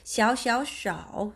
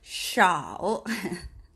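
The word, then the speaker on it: 手: 샤오 손이 샤오 이렇게 발음합니다. 손을 샤오 같이 해볼게요. 샤오 같이 하셔야 돼요. 예, 그게 지금 우리 라이브 방송하는 이유예요. 샤오, 예, 샤오. 그냥 소우 아니고 혀가 이렇게 들려 있다 보면 이렇게 바람 소리가 좀 날 거예요.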